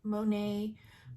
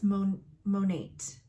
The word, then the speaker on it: Monat: These are some of the top leaders in Monat, Monet, Monat. Seriously, I've heard it pronounced every way. So I believe it's Monat because it stands for Mother Nature.